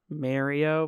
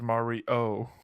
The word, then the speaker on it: Mario: marry Oh Mary oh please don't say Mary Oh what if I says Mario I'm okay with that wall I just hate pin I hate when people pronounce Mario with the MA may I mean what if that's how they pronounce their name though but they're wrong please I understand Mario's name isn't Mary people it's like it's like